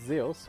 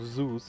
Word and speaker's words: Zeus: you know that that Greek god named zos or Zeus if you want to pronounce it wrongly once gave birth to